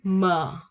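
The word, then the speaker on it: ㅁ: Bặm môi và đọc M nha các bạn. M. M. Nhẹ nhàng thôi.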